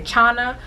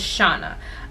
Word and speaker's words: Chana: her name is forget the stock card it's pronounced i'll say shauna shana or some people say chana but it's shauna and i have her in the color mermaid